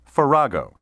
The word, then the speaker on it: farrago: a mixture especially a confused or jumbled mixture forrego may also be pronounced ferrago synonyms of ferrego include conglomeration medley mishmash hodgepodge